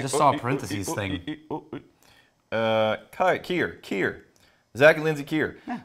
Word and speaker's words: Kier: Oh, they might have given a phonetic pronunciation on the bottle. I just saw a parentheses thing. Kier.